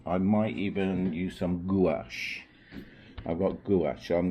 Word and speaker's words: gouache: like watercolor and some gouache that's how you pronounce it to see what gives